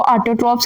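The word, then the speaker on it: autotrophs: कर सकते हैं उनको ऑटो ट्रोप्स कहते हैं जो कि ये वर्ड राइट किया है ऑटो ट्रॉप इसको प्रोनाउंस इस तरह करना है टू वर्ड्स की तरह कर ले इजी हो जाएगा ऑटो ट्रॉप्स ये ऑटो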